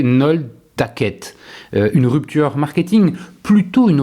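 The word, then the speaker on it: Nolhtaced: En Belgique, Decathlon change de nom et devient Nol Taced, prononcé Nol Taquette.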